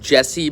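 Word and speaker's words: Jassie: hold on that's awesome I think it's pronounced Jesse but there's an a there j a SS i e I'm going to read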